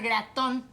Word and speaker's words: Gratton: e famili ta seigneur graton graton tabarnac graton comme dans toton comme dans immigration ça fait 6 mois